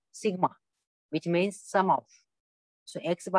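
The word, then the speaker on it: Σ: This formula is usually written in a different manner using the Greek capital letter summation, pronounced sigma, which means sum of.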